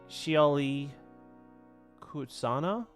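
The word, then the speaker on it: Shioli Kutsuna: Okay, well, how do I pronounce her name? It's Shioli Kutsana.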